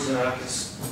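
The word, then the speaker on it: Xenakis: So, Officer George Zanakis, last is spelled X-E-N-A-K-I-S.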